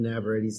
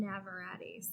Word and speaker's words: Navarrete: Navarrete's Tex-Mexican food. M. Navarrete's.